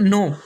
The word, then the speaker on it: know: इसके बाद का नेक्स्ट रूल है, जब के बाद एन आ जाए तो के साइलेंट होगा। जैसे कि KNOW नो, इसके बाद में है